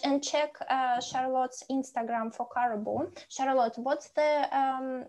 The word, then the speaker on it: Caroboo: can you pronounce it? I Caroboo.